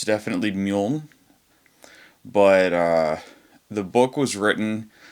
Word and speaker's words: Meaulnes: The book we're looking at today is Le Grand Meaulnes. I believe that's how it's pronounced. Le Grand Meaulnes. For a while I thought this was pronounced Le Grand Meaulnes. And it's definitely Meaulnes.